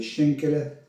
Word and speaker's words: Schankala: Aujourd'hui, on va faire une recette, on va faire des schenkele. Et là, vous allez me dire, mais qu'est-ce qu'il nous fait encore ce couillon avec ces trucs alsaciens? Schenkele qui s'écrit shankala, qui est aussi appelé cuisse de dame.